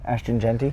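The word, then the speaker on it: Ashton Jeanty: Yeah, go ahead and say it for the camera because I always mispronounce his name. Ashton Genty.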